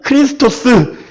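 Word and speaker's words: Χριστός: 그걸 조금 아람어로 얘기하면 메시아, 헬라어로 얘기하면 크리스토스. 지금 우리의 발음으로 하면 뭐다?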